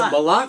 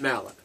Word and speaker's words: Malott: Now, is it Malott or is it Mallet? No, I think it's. We've always pronounced it Malott.